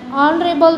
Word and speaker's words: honorable: Then an is used before those words with h is silent. Everybody know an hour, an honest, an honorable man. Then the h will be silent.